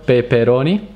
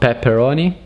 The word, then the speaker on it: peperoni: with italian word pepperoni with a single p so just one p with this word peperoni peperoni peperoni not pepperoni peperoni which is the plural